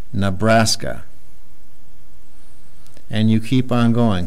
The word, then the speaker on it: Nebraska: the word and say that this E has a sound. So that's kind of odd. That's going to throw a lot of students off. You can say this is na, and they try and pronounce the whole word. Na, braska, Nebraska.